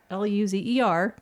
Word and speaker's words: Luzer: I don't want to make fun of his name, but Luzer, that's how you say it.